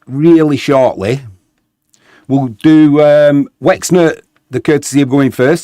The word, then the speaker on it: Łęczna: We're hosting Górnik Łęczna, or Łęczna as it should be pronounced.